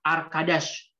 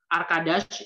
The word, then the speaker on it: arkadaş: A, seperti biasa, A, arkadaş. Jadi, di dalam bahasa Turki, pelafalan huruf A itu sama seperti bahasa Indonesia, A.